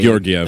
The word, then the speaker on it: Georgiev: Gorgiev. Georgiev. Yeah, Georgiev.